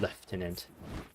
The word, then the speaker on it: lieutenant: I never really understood why this is pronounced lieutenant. It's It looks like new tenant. I think maybe that's like a British English thing cuz in Canada we call it left tenant.